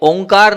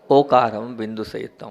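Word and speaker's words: ओंकारं: है वो ओ बिंदु से संयुक्त है वो ओंकार नहीं है ओ का है और आप लोग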